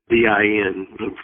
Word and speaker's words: Din: word, modern Persian word, Din, D-I-N, pronounced like it's D-E-N, Din, like Mujahideen, this Din on the end of so many Arabic words means religion.